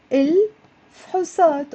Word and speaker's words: الفحوصات: نتائج الفحوصات. فحوصات. 2 syllables. So people tend to pause here. نتائج and then say الفحوصات. But if you have to pause, I'd rather you pause after ال than before ال.